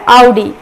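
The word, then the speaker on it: Audi: सो इसका pronunciation ऑडी नहीं होता है, इसका प्रोनाउंसिएशन होता है आउडी। यस, सुनने में थोड़ा अजीब लगता है, बट इसका प्रोनाउंसिएशन आउडी होता है, ना कि ऑडी, जो कि हम हमेशा गलत प्रोनाउंस करते हैं।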